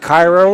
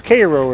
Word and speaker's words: Cairo: It's not Cairo, it's Cairo, as we found out when we were down there.